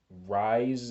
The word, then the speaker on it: Rhys: likes and I believe the character's name is Rise it's Rhys I can't really pronounce it um I was thinking